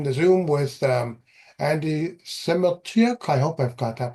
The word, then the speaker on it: Semotiuk: My name is Cliff and today I am in the Zoom with um Andy Simuk. I hope I've got that pronounced right. Simuk.